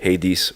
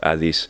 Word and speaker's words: Hades: And we also had to make a balance sometimes, like Hades or Adis.